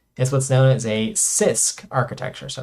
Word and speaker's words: CISC: what's known as a sisk architecture so it's pronounced sisk which stands for complex instruction set computer here okay so basically